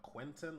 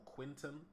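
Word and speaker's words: Quinten: and Timber's brother uh Quenton or Quinton I believe the second pronunciation was the correct one um we will be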